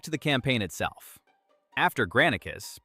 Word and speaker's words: Granicus: After Granicus, pronounced Granicus, the invasion is already starting to look dangerous for Persia.